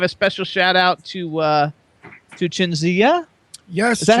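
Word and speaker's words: Cinzia: Give a special shout out to Chinzia. Yes. Is that how you pronounce it?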